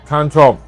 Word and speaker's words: ฉันชอบ: How you say I like ฉันชอบ Chan chop.